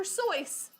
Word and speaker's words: Seuss: last week come on dr seuss is pronounced dr soyce rhyming with voice come on this is